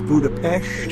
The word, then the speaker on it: Budapest: All right, here we are in Budapest, also known as Budapest, as the locals say.